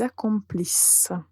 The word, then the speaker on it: accomplissent: Et on le prononce comme is. Donc nous allons dire nous accomplissons, vous accomplissez, ils, elles accomplissent.